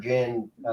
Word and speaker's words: djinn: So it's a combination of din and Jin.